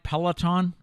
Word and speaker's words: Peloton: Our final story today is about the popular, am I saying it right, Peloton?